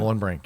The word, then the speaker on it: Mohlenbrink: Mohlenbrink, yeah.